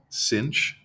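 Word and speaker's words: sinh: sin h of X which you can pronounce cinch kind of like if you cinch up your pants so e to the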